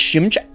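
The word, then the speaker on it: Szymczak: It's pronounced Shimchak.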